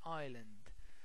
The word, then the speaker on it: Island: of the example Treasure Island Treasure Island as you can see in this word the S is silent Island J Al a Treasure